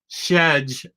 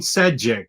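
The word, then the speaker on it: Šejić: His first name is Stepan, and you're supposed to pronounce his last name Shedge, like Sean Connery is saying it.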